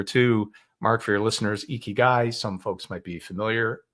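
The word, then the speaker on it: ikigai: Mark for your listeners eeky guy some folks might be familiar pronounced eeky guy like e a key and a guy spelled i k i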